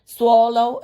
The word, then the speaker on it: swallow: സ്പെല്ലിങ്ങിൽ SWALLOW ആണെങ്കിലും നമ്മൾ ഉച്ചരിക്കുന്ന സമയത്ത് സ്വ എന്നല്ല പറയുക, സ്വോ എന്നാണ് പറയുക. സ്വോ, ഓ പറയുന്നത് പോലെയാണ് പറയുക. സ്വോ. പിന്നെ ലോ, സ്വോ ലോ, swallow, swallow, swallow.